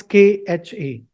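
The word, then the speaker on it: ख: Ka is K, Kha is K, H, A. So when you have to pronounce Kha, you have to get that H sound also in between K and A.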